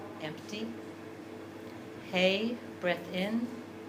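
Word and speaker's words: ה: the hey out loud hey is the sound of breathing the out breath and the in breath both make the same sound of hey and there's a perspective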